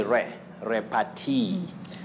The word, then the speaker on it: repartee: Is it repartee? Oh, you say repartee.